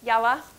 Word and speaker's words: yalla: Okay, and so it's pronounced yalla.